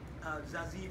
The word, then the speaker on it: Zazie: And obviously, Zazie Beetz, that's how you say her name. You gotta have a nice Zazie. So if you're saying Zazie, you're saying it wrong.